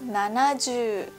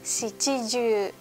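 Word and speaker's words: 七十: Lalu kalau 70 harus nanaju, enggak boleh siiju.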